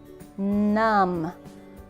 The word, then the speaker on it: numb: you'll turn to mush lam remember the B is silent crumb crumb numb like your foot goes numb when you sit